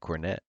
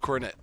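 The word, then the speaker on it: Kornet: props to uh luke cornett fun uh it's spelled pretty cool too it's it's like hornet but instead of an h it's a k i spelled it wrong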